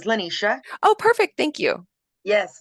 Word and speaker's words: LaNicia: I would love for lenisia to take the floor thank you um and just to correct uh pronounce this pronunciation of my name is lenisha oh perfect thank you